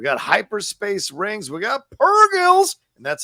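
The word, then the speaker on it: purrgil: as well we got hyperspace Rings we got pergols and that's how you say it no hard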